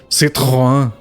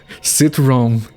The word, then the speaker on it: Citroën: It's supposed to be pronounced Citroën, if I'm not mistaken, and that's just presumptions.